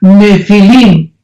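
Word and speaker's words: nephil: y pH intermedia nepil se pronuncia nefil en el original hebreo esta palabra en su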